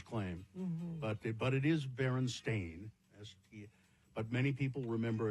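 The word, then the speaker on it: Berenstain: For instance, the Baronstein bears book being spelled and pronounced Stein or not Stain as the publishers claim but but it is Baron Stain as but many people remember it as Stein or Stein.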